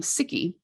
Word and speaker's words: Sikhi: would call the religion it would be um sikki with an eye um and but you